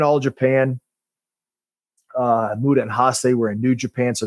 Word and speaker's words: Hase: Miracle Violence Connection against Muto and How do you pronounce Hase? Hase, yep.